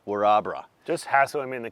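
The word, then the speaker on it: Wirrabara: straight away but orabra I pronounced it we're a Borough which is how it looks in the spelling of things but it's actually called warabra just hassle him in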